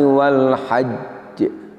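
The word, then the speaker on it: وَالْحَجّ: Cara yang benar ketika kita wakof pada lafadz yang huruf akhirnya bertanda tasdid adalah dengan menahan sejenak untuk menyempurnakan makhrajnya, karena kita sebenarnya membaca dua huruf baru kemudian dikeluarkan sifatnya.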